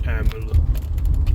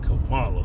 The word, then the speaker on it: Kamala: you pronounce that name Camala that's a East Indian name that ain't no American name why yall trying to